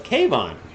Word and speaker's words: Kevon: So it's Kevon. See, I see Kevon pronounced 2 different ways. Kevin, but in this case it's Kevon.